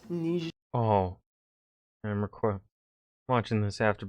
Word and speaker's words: Niger: It's pronounced Niger.